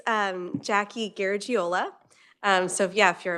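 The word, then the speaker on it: Garagiola: okay it's um Jackie gajola um so yeah if you're a baseball fan Joe gajola same pronunciation and spelling um welcome to committee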